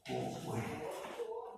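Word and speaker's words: 虢: 郭辉，不念虎啊，不念乳啊。国家的国的读样的读音啊，叫国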